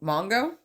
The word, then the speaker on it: Mongo: So the first thing you have here is rest in peace to Mongo. Yeah, That's the correct pronunciation.